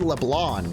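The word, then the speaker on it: Leblanc: He just said Leblon. He didn't even pronounce the C.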